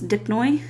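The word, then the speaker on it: Dipnoi: the lungfish and so that's dipnoy is how you say that there are six species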